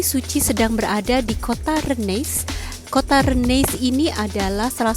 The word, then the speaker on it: Rennes: Rennes, pengucapan Prancis Rennes, adalah sebuah kota di timur Britania di barat laut Prancis pada pertemuan Ille dan Vilaine.